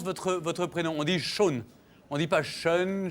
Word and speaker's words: Sean: Comment on prononce votre prénom? On dit Sean. On dit pas Sean, Shin.